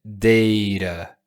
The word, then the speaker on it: data: in terms of health, pronúncia deira, deira, deira. Perfil que deira não, data é em português, tá?